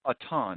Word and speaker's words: Auton: Is it Auton or Auton? Do you prefer the French pronunciation? No, just Auton. It's been Anglicized.